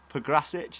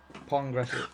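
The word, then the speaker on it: Pongračić: Pograsic, is that how we're pronouncing that one? Pongrasic. Bang on. Progsman. Anyway, he got an header. There's an N in it.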